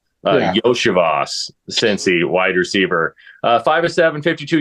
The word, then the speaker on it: Iosivas: Yoshibas. Okay. I always want to pronounce the EO, like as in like, because it's IO. Yoshivas, Cincy, wide receiver.